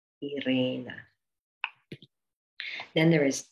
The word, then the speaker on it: Irena: And for example, it's in my name, Irena. Irena. Then there is E, and this is Ukrainian E. And the way you pronounce it is the way you would say E in she.